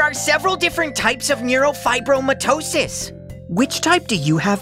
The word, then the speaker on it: neurofibromatosis: it's because I have neurofibromatosis huh you say it like Nero five bro mitosis it's called NF for